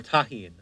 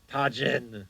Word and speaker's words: Tajin: not a spice boy or tahin whatever tahin sorry Tajin I'll just call it Tajin because I I like